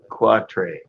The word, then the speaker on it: quatre: Quatre.